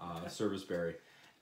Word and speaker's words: sarvisberry: The name sarvisberry comes from a pronunciation, Ozarkian pronunciation of the word service, sarvisberry, and it dates back